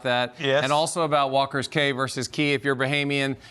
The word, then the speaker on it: Walker's Cay: Just like how when you're at Walker's, Bahamians call it Walker's Cay, even though it's spelled C-A-Y. We all say Walker's Cay. They both work.